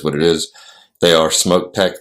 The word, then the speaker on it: Smok: I've just recently found out that I've been pronouncing it wrong. It's Smok, because even the woman I spoke to who was from there referred to it as Smok.